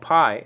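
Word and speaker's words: π: and it was called Pi in that film great film but it's not supposed to be pronounced Pi just pronounce it P okay like the English p so you'll see this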